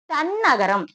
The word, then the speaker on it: தன்னகரம்: இப்போ இந்த நகரத்தை நம்ம எப்படி உச்சரிக்கணும் தெரியுமா? தன்னகரம். இங்க பாருங்க. இங்க எழுதுறேன். தன்னகரம். சரிங்களாமா? இங்க பாருங்க. இது எப்படி உச்சரிக்கணும்? தன்னகரம். இங்க பாருங்க. ஏன் தன்னகரம் சொல்றோம் மேம் அப்படின்னா இது டேவுக்கு அடுத்தபடியா வர்றது.